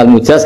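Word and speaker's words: المجاز: sanad itu untuk almujaz bacanya almjaz karena dari f ajaz jadi mujaz itu yang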